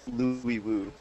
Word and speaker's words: Louis Wu: You actually said his name wrong. It's Louis Wu.